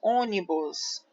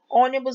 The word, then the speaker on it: ônibus: ver que esses exemplos ônibus ônibus eu tenho três sílabas né o traço me traço bus ônibus primeira segunda terceira sílaba a sílaba forte é o ou então ela é uma proparoxítona ou ser uma proparoxítona